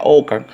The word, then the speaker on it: Ockham: Inglaterra, pero en realidad su último nombre se pronuncia Ockham.